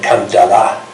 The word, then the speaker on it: Kandala: Much later, the Youngs discovered that Kandala let's give its correct pronunciation, Kandala, House of God.